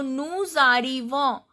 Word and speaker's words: nous arrivons: So here I am pronouncing this S. Nous arrivons, vous arrivez, ils arrivent, elles arrivent. Why? Because this is liaison. This word is followed by the word which starts with a vowel. So arrivo starts with vowel A. So the final consonant is pronounced here. This is called liaison.